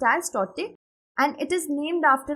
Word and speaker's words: Tauktae: It has been actually named as Tauktae, T-A-U, pronounced as Tauktae, and it is named after a gecko lizard, which is a vocal lizard in the Burmese language.